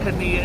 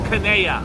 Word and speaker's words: Kadia: It's not Kania, it's Kanea.